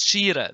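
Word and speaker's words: ϣⲏⲣⲉ: How do you pronounce sh r? But in Coptic, we know this is shira.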